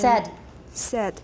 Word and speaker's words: said: Same pitch in the sense that they are said on the same... Said. Everybody watch this one. Another commonly mispronounced word. We talked about it before. Says. Said in standard American.